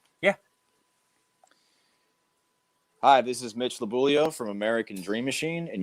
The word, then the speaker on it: Lobuglio: this is mitch and i'm afraid to pronounce your last name it's it's labulio that's okay i'm kentucky